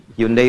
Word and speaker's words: Hyundai: Hyundai bacanya Hai.